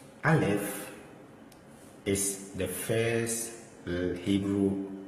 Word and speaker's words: Aleph: Aleph is a silent letter.